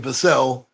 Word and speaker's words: Vassell: He pronounces his name Vassell, much like the great guard for the Houston Rockets, LA Clippers. He's the well-traveled Sam Cassell.